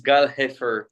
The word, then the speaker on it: Gal Hefer: YouTube my name is G heer you pronounce it as G a l h e f e r go watch my content